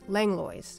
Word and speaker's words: Langlois: for several generations and even have a street named after them which we pronounced langlo it runs north south